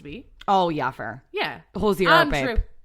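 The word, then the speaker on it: Hozier: Yeah, Hosier, babe. Look at you not pronouncing the R.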